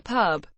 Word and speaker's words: PUB: To members and fans, it is often known as the pub, pronounced P-U-B, or simply the band.